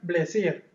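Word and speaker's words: Bézier: Y va a haber una que se llama, aquí se pronuncia o se escribe Besier y se pronuncia Blesier. ¿De acuerdo? Ujú. Como si tuviera una L intermedia.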